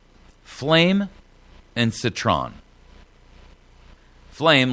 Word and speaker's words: Flame: Flame, like flame in a fire.